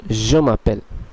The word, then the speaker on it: je m'appelle: এটির উচ্চারণ হবে je m'appelle, je m'appelle, je m'appelle, je m'appelle।